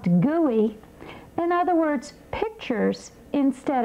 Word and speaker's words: GUI: Again, an acronym, GUI, pronounced GUI.